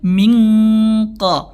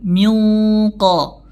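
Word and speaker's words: مِنْ قَبْلِكَ: ikhfanya dibaca dengan tebal contohnya mqo mqo kita tidak membacanya dengan mingqo mingqo tapi dengan tebal minqo Min qoblik ya diikhfakan disamarkan bunyinyaik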